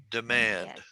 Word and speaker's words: demand: syllables two syllables right demand demand where is the emphasis on the first or second syllable it's on the second syllable so i'll go d manned demand okay and if i